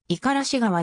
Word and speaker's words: 五十嵐川: はであるが読みは五十嵐側ではなく五十嵐川であり濁らない発音である県内各地からは